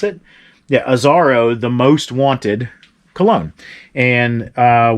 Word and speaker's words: Azzaro: It's a 3.3 ounce Azzaro, I think is how you pronounce it. Yeah, Azzaro, the most wanted cologne.